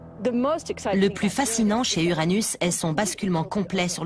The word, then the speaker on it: Uranus: Je prononce Uranus, ce qui est probablement très proche de la prononciation originale du nom du dieu dont elle tire son nom.